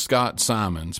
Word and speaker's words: Scott Simons: Um, and he's connected to this current generation that I believe in that I'm so optimistic about and it's it's pronounced Scott Simons.